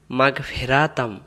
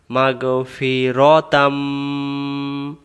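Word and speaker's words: مَغْفِرَةً: আমরা এই শব্দে ভুল করি, আমরা অনেকে বলি মাগফিরাতাম, ফেরা, ফায়ের জেরো ফে বলে আর রয়ের জবর রা বলে। এখানে হবে মাগ ফি র, মাগ ফি র, ফেরানা, মাগফিরাতাম।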